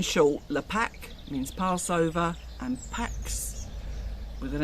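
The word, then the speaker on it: Pâques: lepak means passover and pax with an s even though you don't pronounce the s in france is easter now obviously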